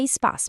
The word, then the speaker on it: Espa: A pronúncia é espaço mesmo.